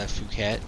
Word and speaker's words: Phuket: town that's called the phuket yeah but if you pronounce it the way that it's spelled using english rules it's